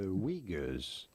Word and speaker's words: Uyghur: the Uyghurs.